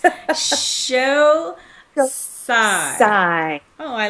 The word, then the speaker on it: Xocai: the product, and it's Xocai. Xocai. Just like Jerry Maguire, show me the money and sigh when you get the check is how we remember it. Xocai.